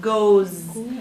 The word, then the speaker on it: goes: Goes. Now this one is a little bit tricky because it has, when you spell it, it's G-O what? How do you spell it? E-S. But we pronounce it G-O-Z.